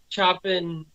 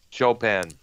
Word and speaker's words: Chopin: she won the international uh choppin it doesn't say the right chopin that's his predictor pronunciation all right keith is